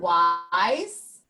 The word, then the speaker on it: wise: with uh what what w why in the word waaah ice the e is silent and it makes the eye say its name wise octopus when I